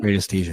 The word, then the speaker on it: radiesthesia: In Portuguese, my pronunciation is radiestesia, Hmm. but in English is radiestesia, I Yeah. believe. Radiesthesia.